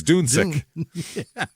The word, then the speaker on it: Dunksack: That's just I would assume they pronounce it Dunsack probably. They're probably I know. Yeah, I'm not Paulie Dunksack, but yeah, because the alternative sucks. Yeah, even if I'd pronounce it that way, no matter how it's supposed to be pronounced. I'd probably go with a long U. Yeah, it's Dunsick, actually.